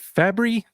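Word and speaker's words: Fabbri: So is it Fabry? Yep. Is that how you pronounce it?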